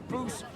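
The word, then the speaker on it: Bucephalus: What kind of name is Bucephilus Bucephilus. anyway? It's pronounced Bucephilus, Ishka.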